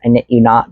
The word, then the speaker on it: i.knit.u.knot: Her handle is I period knit period you period not. So it's I knit you not, but it's spelled wonky.